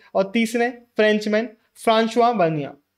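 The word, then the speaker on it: François Bernier: फ्रांस्वा बनिया हां भाई फ्रेंचमैन है इनका प्रोनंसिएशन यही है आप स्पेलिंग याद करने के लिए फ्रेंक फ्रेंक इनको कर सकते हो लेकिन इनका एक्चुअल जो प्रोनंसिएशन है वही हम इस चैप्टर में यूज कर रहे होंगे इनके नाम को थोड़ी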